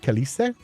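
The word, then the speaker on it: câlice: It's pronounced more like Calice. Oh, like Khaleesi from Game of Thrones. Sick.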